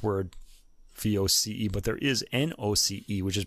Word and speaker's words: noce: But I was wondering because there's no French word voce, but there is noce, which is pronounced nos.